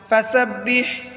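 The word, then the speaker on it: فَسَبِّحْ: ফাসাব্বিহ হায়ের মধ্যে চাপ দিয়ে পড়তে হয়। ফাসাব্বিহ বিহামদি রব্বিকা র বা জবর রব, বাজের বি, রব্বি কাব জবর কা, রব্বিকা। ফাসাব্বিহ বিহামদি রব্বিকা واستغفر واستغفر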